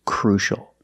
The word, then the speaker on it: crucial: an important way it's crucial and we see the sea before the Ia making the sh sound together crucial crucial a crucial